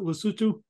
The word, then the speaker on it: Lesotho: That's how you pronounce it, Lesotho?